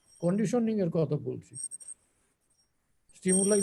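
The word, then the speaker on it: stimuli: সুতরাং ওই যে স্টিমুলাই, ওটার উচ্চারণ হলো স্টিমুলাই, ঠিক আছে?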